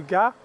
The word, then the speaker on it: Gast: Now here just north of StDenis le Gast, looks like Gast but it's pronounced Gast, the headquarters of the 347th Armoured was placed.